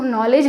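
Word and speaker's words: knowledge: तो के और डी का वहाँ पे क्या नहीं हो रहा है, हम साउंड नहीं करते हैं, उसको नॉलेज लिखते हैं, तो के का भी तो साउंड होना चाहिए, लेकिन के को साइलेंट कर दिया, डी को साइलेंट कर दिया।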